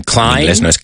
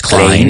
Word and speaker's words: Klein: Calvin Klein. Inglés no es Klein. It's Klein.